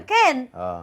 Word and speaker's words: كان: مصر في في مصر مهرجان اسمه كام كام كام اه والعالم طبعا المهرجان العالمي مهرجان كان فخدوها عملوها كوميكس ام معنى ايه بيقولوا للناس سوري ان هند عاكف مش عارفه تنطق مهرجان كان اه وهو في في